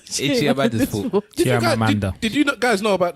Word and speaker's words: Chimamanda: Is that name of Chiamanda? Yeah, Chimamanda. Chimamanda. Chimamanda. You left out a syllable, bro.